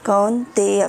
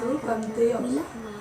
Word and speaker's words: कौन्तेय: ए यहाँ पर ए आता है, इसमें ए का कौन्ते है ना, कौन्तेय। फिर से बोलिए। मात्रा स्पर्शस्तु कौन्तेय। कौन्तेय। माँ फिर से बोलिए। मात्रा। कंतेय।